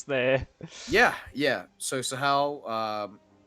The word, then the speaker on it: Sahel: The map is Sahel, or at least so that's how I would pronounce the. Yeah. So Sahel, 3 TPs on the middle of the map, livestock available.